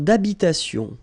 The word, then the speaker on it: d'habitation: Une tour d'habitation. Remember, H doesn't exist in French, well, in most of the cases. So it does mean that you don't pronounce it.